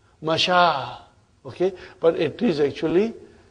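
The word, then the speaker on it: مشى: In this, the ya remains ya, but it is pronounced ah. It is pronounced ah. Masha.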